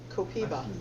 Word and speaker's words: copaiba: It says it's pronounced Copiba. Copiva.